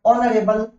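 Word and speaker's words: honorable: फिर है ही इज नॉट, अब ऑनरेबल, क्योंकि एच से स्टार्ट है, बट ऑनरेबल प्रोनाउंसिएशन ओ से है, तो मैं यहां आंसर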